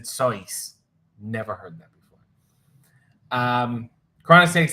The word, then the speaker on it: Seuss: Miss Andy said, have you ever heard, you're wrong as the deuce, and you shouldn't rejoice if you're calling him Seuss. He pronounces it Seuss.